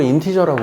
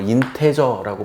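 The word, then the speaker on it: integer: 정수는 영어로 인티저라고 그래요. 어떤 사람은 뭐 인테저라고 발음하는 사람들인데, 인티저.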